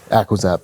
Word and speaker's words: Aquizap: adam and nicole and how do you say your last name adam aqua zap aqua and nicole easy nicole